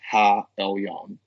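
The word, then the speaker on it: העליון: So the thing is, we have to recognize that the Most High in Hebrew is pronounced Ha Elyon, and he is not the same entity as God the Father, as some people may believe.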